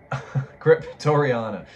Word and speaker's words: Cryptoriana: Number 12, Cryptoria. Is that how you say it? Cryptoriana? Cryptoriana.